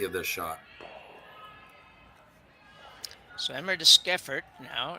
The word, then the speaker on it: Deschiffart: So Emma Deschiffart now, Skiffert, I think is how we figured out we pronounce this.